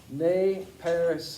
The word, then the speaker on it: Nez Perce: In French, it is pronounced Nez Perce, and it means pierced nose.